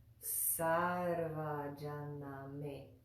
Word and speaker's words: Sarvajaname: But this does not have that diacritical mark, so it's pronounced differently. Instead of sh, it's pronounced sa, sa, sa. So that word is Sarvajaname.